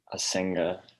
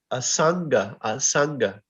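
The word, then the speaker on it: asaṅga: Ashvatam Enam Suverura Mulam Asenga Shastrena Durdena Chitva. Very nice, very nice. So just some little pronunciation help. Asanga. It was pronounced more with the E, asanga, but asanga.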